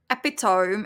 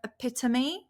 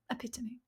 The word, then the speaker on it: epitome: included right because a lot of people say epitome instead of epitomy but the correct pronunciation is epitome or epit epitomy epitomy epitomy epitomy it's bit epitomy typical example yeah